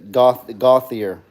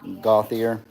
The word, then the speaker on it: Gauthier: She says Gauthier. That's how you say it. I thought it would be like Gautier or something like French. Gautier. Gauthier.